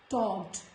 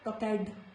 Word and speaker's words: talked: It is not bored, it is bored, begged, talked, not talked, it's talked. So I hope you have understood when letter E is silent.